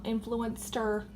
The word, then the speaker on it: Influenster: Mercier powder I got this as an influencer Influenster is how you pronounce their name like a little it's like